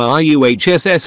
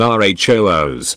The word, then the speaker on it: Russ: underneath all the blood there appears to be no specific way to pronounce his sura name as both the wider imperium and the wolves themselves commonly alternate between r uhss and rhos when speaking about him or the battle tank